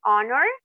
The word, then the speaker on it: honor: comience con h pero esta H es muda esta H no no suena no tiene ningún sonido al pronunciarla por ejemplo an honor an Hour an honest